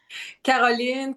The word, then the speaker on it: Caroline: Carolene. Carolene. Caroline. Carolene is a French speaking pronunciation, right?